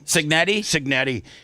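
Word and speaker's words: Cignetti: Signetti.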